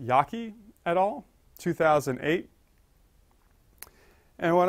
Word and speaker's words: Jaeggi: I know that looks like Jagi et al., but it's pronounced Yaki et al., 2008.